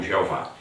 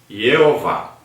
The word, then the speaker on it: Jeová: Na Idade Média, especificamente no século XIV, foram inseridas no tetragrama as vogais de Adonai. O Y é semiconsoante no alfabeto hebraico. O resultado é a pronúncia Jeová.